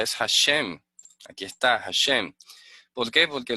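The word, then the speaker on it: Hashem: manuscrito antiguo dice que lleva no esto se pronuncia es hashém aquí está bien porque porque los mas sobretasas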